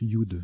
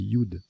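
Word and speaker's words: judd: Et oui, voilà, on le prononce Yud. J'avais eu un gros doute, c'est Yud.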